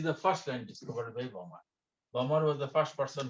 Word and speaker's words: Balmer: Second one is called Balmer. L is silent. L is silent. Balmer series.